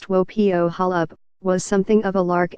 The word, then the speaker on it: Wopo Holup: Hill was a homemaker her unusual name pronounced tuo Pio Holub was something of a